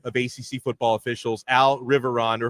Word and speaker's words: Riveron: We were talking with the coordinator of ACC football officials, Al Riveron, or if I want to say it like my Miami roots, Al Riveron. Riveron, you have to roll the R.